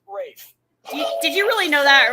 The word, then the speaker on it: Ralph: spelled like Ralph, but pronounced Rafe.